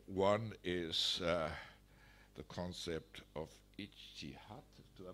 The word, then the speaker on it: ijtihad: One is the concept of ijtihad, do I pronounce that correctly?